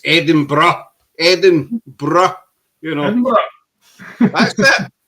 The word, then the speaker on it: Edinburgh: hear Americans prob about Ed go edin bro Eden Burger got they different and you s there it's Eden bruh Eden bruh you know that's that's it's pronounced